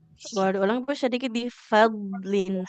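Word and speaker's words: فضل: Boleh diulang bisa sedikit di fadlin. Huruf dotnya dia harus tebal ya.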